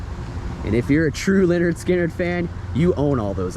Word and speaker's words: Lynyrd Skynyrd: through life without my pronounced Le nerd skin nerd album or second helping nothing fancy Give Me Back My Bullets and if you're a true Leonard skinnard fan you own all